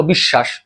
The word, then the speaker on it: বিশ্বাস: যেমন দেখো বিশ্বাস। বিশ্বাস শব্দের মাঝখানে বফলা আছে সেটা হচ্ছে মধ্য বফলা। এই মধ্য বফলার কোন উচ্চারণ হবে না। জিরো। কিন্তু মধ্য বফলা যার সাথে আছে তালব বস। এই তালব বসর উচ্চারণটা ডাবল হবে।